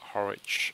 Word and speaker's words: Harwich: and he's ported it over, called the Royal Harwich Golf Club. That's the correct pronunciation.